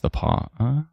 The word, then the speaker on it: The Pas: Oh, Stella says the pass is actually pronounced the paw.